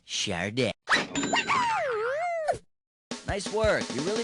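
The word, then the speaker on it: Sade: the heck do you pronounce that Shard it's pronounced shardo woo nice work you really made the grade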